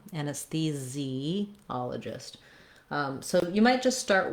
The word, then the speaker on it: anesthesiologist: at the end, or anesthesiologist, if you're talking about the specific doctor. Okay, anyway, building from the stress syllable, ologist, and that is something good